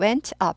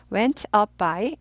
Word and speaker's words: went up: 하지 않고 up up 트가 거의 안 들리도록 빨리빨리 하니까 그래요 up up up by 이렇게 돼요 천 천천히 하실 때는 발음나요 went up 이렇게 돼요 빨리 할